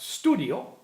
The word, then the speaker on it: studio: Studio, being an Italian word, pronounced studio, just simply means a study, something that you learn.